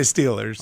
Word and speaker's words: Steelers: I say Steelers. Okay, I'm close enough to Eastern for that. But you don't say Stillers.